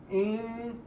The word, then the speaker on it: interested: we use this interested ined in or for interested in remember the pronunciation of this word after t uh when t comes after n we don't pronounce t always so this one is